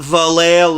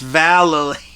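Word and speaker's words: Vallely: Uh, Shawn White, who was also a baby at the time, and Mike Vali, not Valle, it's Valerie.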